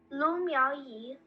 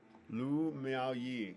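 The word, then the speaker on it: Lu Miaoyi: Lou Mal Yee. Lou Mal Yee.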